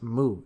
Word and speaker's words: Mu: As I have mentioned, Wu is the Chinese prefix for negation, like non in English. It's pronounced mu in Japanese, and it works the same as English non or English a or something like that.